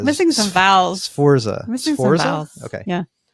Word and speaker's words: Sforza: Okay, the family's name is spelled Sforza. Okay. Okay, so the S. Yeah, we're like missing some vowels. Sforza.